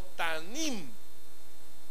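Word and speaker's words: תמים: Fíjese que esta palabra perfecto es traducida del hebreo que dice o se pronuncia como tanim, y cuyo significado en su traducción más adecuada al español es sin defecto.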